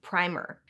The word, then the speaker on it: primer: This word's primary pronunciation, on the other hand, depends on the context. If it's describing something used to prime a surface or an electric charge, it's primer. But if it's a small book or piece of writing